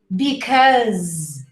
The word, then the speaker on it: because: Next up, because. Even though it's spelled with an S, the final pronunciation is a Z. So you say because, surprise, phase. The last sound you hear is of a Z.